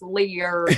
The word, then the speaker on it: Leer: he says my name I never heard my name said the way that he says like and I'm like I know it's a three syllable word of a good day it's like Lear it's like layer that is the